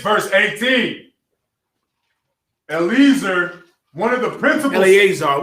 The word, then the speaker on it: Eleazar: But then he is properly pronounced Eleazar.